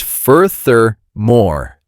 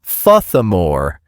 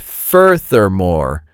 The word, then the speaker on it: furthermore: Is pronounced furthermore, three syllables. The R sound is important. Not thmore, but furthermore with clear R sounds.